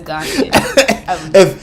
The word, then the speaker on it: Ghanaian: It would be said as Ghanaian.